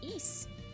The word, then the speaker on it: Ys: Yeah, it's E is unfortunately pronounced E is as silly as it might sound but that's is the way it is.